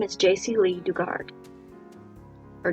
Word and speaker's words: Dugard: name is jc lee dugard or duggard why am i brain fart moment on how the last name is pronounced i've heard it so many times dugard right brain fart